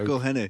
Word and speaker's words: Mcelhinney: Mcelhinney.